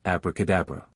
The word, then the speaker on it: abracadabra: The word is pronounced abraca, as if written ob, rao, cow, and diob,